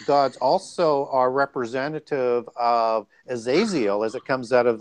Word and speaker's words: Azazel: because I was saying Azazel. Yeah, we were struggling on that one. You can pronounce it either way, because sometimes it's spelled EL and sometimes it's IEL, and it's just a transliteration.